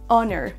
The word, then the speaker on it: honor: Pour info, il y a seulement 4 mots en anglais où il y a un H en début de mot et ils ne se prononcent pas. Ce sont les mots hour comme l'heure. On a aussi honest et tous ses dérivés comme honesty, etc. Et on a aussi le mot honor. Honor, honest, hour et un dernier mot